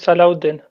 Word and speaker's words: Salahuddin: I think his name is Salahuddin. Well, Salauddin, yeah. yes, So it's fine. You are pronounced right.